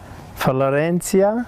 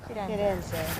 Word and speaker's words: Firenze: Florencia? Is that how they say it? Is that right? Firenze.